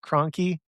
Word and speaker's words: Kroenke: names, but Spitzer Williams Kroenke, I think is how you say it, or Chronicky. Yeah. Kroenke.